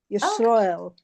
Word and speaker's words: Yisroel: know, that Yisroel is Yisroel is the Yiddish pronunciation of Israel. Yisroel.